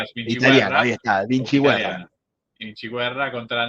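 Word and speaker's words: Vinciguerra: Andreas Andreas Vinchiguerra vendría ser como italiano. Vinchiguerra ahí está Vincher.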